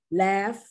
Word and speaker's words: laugh: Laugh, the G-H is pronounced like an F, like tough, rough, cough.